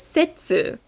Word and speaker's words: 切: in kitte or kippu this kanji can also be read setsu and we will find